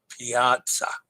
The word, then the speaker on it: Piazza: person yes indeed p Piazza Piazza oh I forgot the T pronounced like pizza with I in the middle Piazza see Dennis I